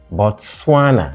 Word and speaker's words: Botswana: so Tanzania third syllable bana second syllable Cameroon third syllable kivir third syllable therefore Botswana is different from the rest because whereas the rest are all stressed on the third syllable we mean primarily stressed on the third syllable bana is stressed on the second syllable what is this one